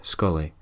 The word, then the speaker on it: Scolaidhe: Her captain is named Rowan, Scolaidhe. I think it's pronounced Scully.